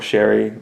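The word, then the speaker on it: Ceri: Um, but uh, Siri Holland, I believe that's how it's pronounced. Um, C E R I would imagine that would be Siri or Sherry, something like that.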